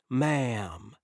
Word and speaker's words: ma'am: as well yes madam it's ma'am say it like this like a cowboy ma'am you're in the good